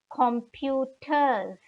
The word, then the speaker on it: Computer: have their computer d computers again taken from the english language and written similarly in german but pronounced slightly differently because the c is pronounced like k in german computer then we have